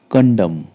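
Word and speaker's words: condemn: आपका third example है कंडम कंडम का अर्थ होता है निंदा करना यहां पर भी एम के बाद एन है तो ये साइलेंट है एम के बाद एन है सेलेंट है हम खाली एम तक ही इसको प्रोनाउंस करेंगे कंडम ठीक है अगर आपको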